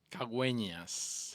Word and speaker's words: Caguenas: Today I want to introduce you to a man who I can't pronounce his last name, so, you do it for me. Caguenas.